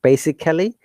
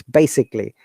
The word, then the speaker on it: basically: So this word basically, remember, this is not basically. Very often we pronounce it basically, but it is not like that. It's basically. This A is schwa sound.